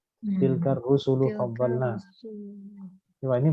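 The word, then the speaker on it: رُسُل: Tilkar rusulu faddalna. Coba ini bacanya apa ini?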